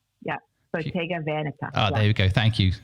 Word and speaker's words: Bottega Veneta: It's Bottega Veneta. Is that right? Yeah. Bottega Veneta. There we go. Thank you. There you go, audience. That's how you pronounce it properly.